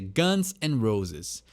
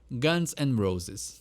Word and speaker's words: Guns N' Roses: de formatar esse nome eu vejo muita gente pronunciando errado mas é Guns and Roses né tem o Guns n' Roses a gente a gente costuma juntar todas as palavras numa só e inglês eles também são conhecidos como dia no ar mas o jeito correto de pronunciar Guns and Roses gente volta por funk